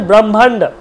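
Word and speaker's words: ব্রহ্মাণ্ড: আছে আছে তাহলে জাগাদিসহা হল তারপর দেখুন আছে ব্রহ্মান্ড ব্রহ্মান্ড আমরা কি বলি ব্রহ্মান্ড বিশ্ব ব্রহ্মান্ড ব্রো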